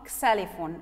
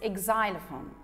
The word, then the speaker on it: xylophone: cello symbols drums xylophone it's not excellent for no it's xylophone electric k bird harp